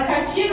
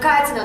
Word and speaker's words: Katina: Latina e tal, e chamar ela de Lena Katina e não de Lena Katina, se isso incomoda ela.